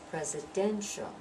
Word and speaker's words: presidential: which one is dressed presidential presidential is that dent that gets the stress residential and notice sure